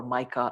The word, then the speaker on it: MiCA: this is in short we call it mika or mica as you may pronounce and the second one